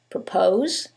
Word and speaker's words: propose: in the first one it's the second syllable that's stressed and in the second one is the first syllable and that changes the pronunciation completely the first word is propose and the second word